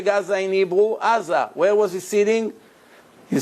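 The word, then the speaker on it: עזה: Gaza.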